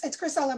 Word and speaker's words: Christcella: Christcella, apologies if I'm pronouncing that wrong. You're up next. Hi, thank you very much. It's okay. It's Christcella, but you pronounce it fairly close.